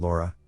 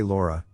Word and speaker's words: Laura: When I say Laura, I pronounce it as Laura. However, when I spoke to her, I pronounced it Lowww, similar to the last name Lowry, which sounds like Lauru.